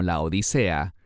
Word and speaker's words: Laodicea: Y esa congregación es Laodicea, que también se pronuncia correctamente como Laodicea. De ambas maneras es correcto.